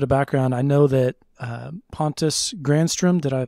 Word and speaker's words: Pontus Granström: To give a little bit of background, I know that, Pontus Granstrom, did I pronounce that correctly? Pontus Granstrom.